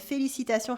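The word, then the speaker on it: félicitations: felicitation for congratulations and felicitation has a silent s at the end felicitas felicitation you can also say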